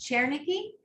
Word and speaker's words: Chernicki: in the meantime uh your name is pronounced chernicki yes that's correct all right thank you